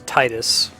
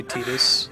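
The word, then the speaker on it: Tidus: miss something yeah so the correct way to pronounce the name is Titus and if you catch me saying it that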